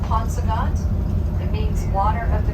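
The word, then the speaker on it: Paunsaugunt: P Native American language it's the pronounced ponant it means water of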